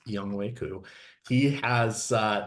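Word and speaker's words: Younghoe: have young way coup I know it's fun to say the alternate pronunciation for his name but it is y wayu he has uh not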